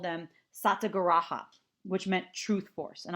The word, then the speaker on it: satyagraha: Gandhi referred to these demonstrations he called them satyagraha which meant truth force and I'll spell that for you too SAT Y a gr a H a so satyagraha which means truth force and it